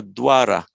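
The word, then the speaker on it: द्वार: the same word um that will be pronounced as if it were a dwara written like a dv francis in fact there's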